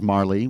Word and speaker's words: Marle: heroes krono Luca and Marl or as my brother says Marley which is how we pronounced it when we were kids and we're all about